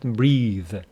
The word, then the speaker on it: breathe: crowded we couldn't breathe with the e at the end it is a verb pronounced breathe without the e it is a noun pronounced breath okay so the theater